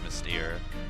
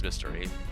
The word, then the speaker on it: Mystere: been made it was Mystere. I thought it was Mystery, and I was wrong.